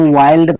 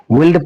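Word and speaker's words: wild: इस भी हम वाइल्ड पढ़ेंगे। इस आई को हम यहां भी आई की तरह उच्चारण करेंगे। तो इस वर्ड को भी हम वाइल्ड की तरह पढ़ेंगे। विल्ड पढ़ेंगे तो गलत होगा।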